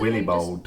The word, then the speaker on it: Willibald: Just try to pronounce it with an American accent. It's Willibald. Okay, Willibald.